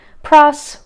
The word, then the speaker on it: Pross: meaning in Dickens but names like Pross rhyming with cross that seems pretty indicative